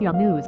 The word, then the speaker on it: Younas: has been quoted as saying my name is young news I tell people that rewear but they